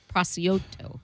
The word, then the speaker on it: prosciutto: call it prosciutto because I don't know how to say it. It looks like Prosciutto. That's prosciutto. Prosciutto. No, it's prosciutto.